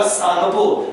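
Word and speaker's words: Tsangpo: और T silent होगा, सांगपो।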